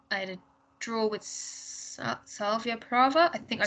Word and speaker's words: Slavia Praha: They had a draw with Slavia Praha. I think I pronounced that right. Yeah, Slavia Praha.